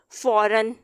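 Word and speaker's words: foreign: फॉरन, जी यहाँ पे साइलेंट है, एन ये बोला जा रहा है।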